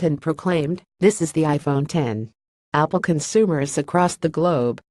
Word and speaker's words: iPhone X: to pronounce its name the X refers to the Roman numeral 10 not the letter of the alphabet and is supposed to